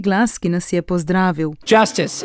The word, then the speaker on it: Justus: Justice is the correct pronunciation if you are American.